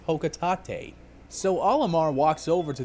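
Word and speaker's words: Hocotate: incorrect jerk heads out there no it's not pronounced hawk at eight it's pronounced ho quitate so olimar walks over to this weird object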